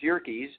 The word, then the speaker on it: Yerkes: And I went to the Yerkes Primate Center, pronounced Yerkes, and it's a man's name.